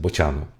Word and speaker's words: Bocianu: If you ever wondered how to pronounce my nickname, it's correctly pronounced Bocianu.